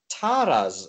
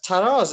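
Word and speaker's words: Talas: where everything is sort of rooted now as taras itself is is a wall town it's sort of um sorry taras actually did I say taras yeah I probably did as Tas is is this wall Town it kind of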